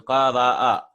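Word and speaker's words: قرأ: I'm not saying qara. No. If I write like this, it becomes qara. It becomes a long vowel.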